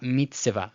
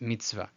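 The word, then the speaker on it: מצוה: The shva, when it's preceded by a short vowel, is silent. The chirik here is a short vowel because it has no yod. It's chirik chaser. So I'm just going to ignore the shva. Let's just pretend it's not there. And then I'm going to put the vav, kamatz, and hey. Mitzvah. So it's not mitzvah, mitzvah. It's just mitzvah.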